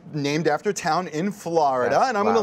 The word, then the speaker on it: Florida: Yeah, not Florida, Florida. F-L-A-H.